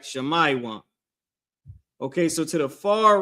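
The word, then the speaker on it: שמעון: next tribe is the tribe of Simeon the so-called Dominicans in Hebrew that is Shamaywan, right? Shamaywan.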